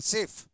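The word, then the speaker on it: chef: restaurant में होते हैं उसका स्पेलिंग होता है सी एच ई एफ पढ़ते सेम है सेफ यह भी सेफ है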